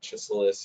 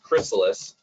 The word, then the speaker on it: Chrysalis: Is it chrysalis or chiselus or chrysalis? It's chrysalis.